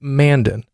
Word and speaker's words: Mandan: anybody else in the country would call it Mandan Mandan sounds like the way somebody would pronounce it just to piss off somebody from